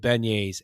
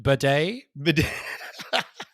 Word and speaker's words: beignet: seth i'm very proud he pronounces that correctly beignet not big net or something like that because there are several people there or as the flg staff judge pronounced it bidet yeah uh being a